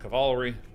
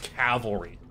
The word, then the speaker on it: Cavalry: something plausibly burning Sun cavalerie and I know that it's pronounced Cavalry I know but Cavalry is fun all right all right